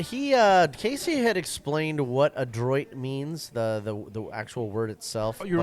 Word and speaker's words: Adroit: He was the one that told us how to pronounce that correctly, because I kept saying Android, but he said there's no N. It's Adroit. Adroit.